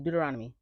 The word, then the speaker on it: Deuteronomy: Deuteronomy. That's the problem. You got to say it fast. If you say it slow, it's gonna sound crazy. Deuteronomy.